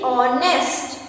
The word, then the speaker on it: honest: When we are writing honest, we are writing it with H, but when we are saying it, H is silent and we are saying honest, and O is a